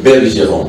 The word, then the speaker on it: Bergeron: Oui, je sais, c'est Bergeron. Voilà. Quand il y a les mots berger dedans là.